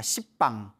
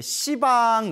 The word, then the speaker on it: 시방: 가리켜 씨방이 라고 하는데요 원래 한문 으로 쓰며 열십자 의 방위 방짜 그래서 원래는 10 빵입니다 10 빵 10 빵 헌 품 층 너무 욕 가짜 씁니까 발음이 너무 없애 가지고 이제 시방 이라고 표현을 합니다 모든 공간 이 우주의